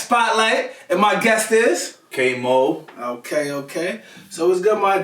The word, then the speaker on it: Kvy Moe: So my name is spelled Kvy Moe, but it's actually pronounced Kvy Moe. Okay. And the V is just there for stylization. It's just there, like, throw a little flair on my name or whatever, make me